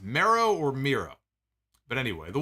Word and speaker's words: Miro: win in the end is it jesus and mero is that how it's pronounced miro okay so it's jesus and miro i know they had